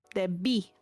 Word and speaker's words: debí: Debí. The accent is on the second syllable.